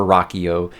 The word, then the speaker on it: Rocchio: Rocchio is writing, and he pronounces it Christopher Rocchio, and he actually knows the man, so I'm assuming that is the proper way to say it.